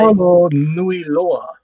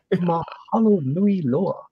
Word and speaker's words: Mahalo nui loa: Mahalo nui loa. Make sure when you do pronounce any Hawaiian word, just like any Indian word, pronounce every single vowel. Okay, so every single vowel is a syllable.